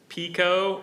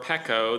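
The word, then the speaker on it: pekoe: Pico or PCO.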